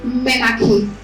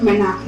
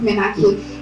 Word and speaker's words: menarche: It is pronounced menarche. Okay, not menarche. It is pronounced menarche, and that is the first experience that a girl has, when menstruating.